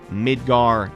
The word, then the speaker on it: Midgar: want to pronounce it I pronounced it mid gear myself but I understand that Midgar is the widely accepted pronunciation they confirm that part